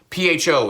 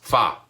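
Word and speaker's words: phở: You know, PHO is not actually pronounced pho. It's actually, well, how's it pronounced? How's it? Yes, fa. Yep, you got it.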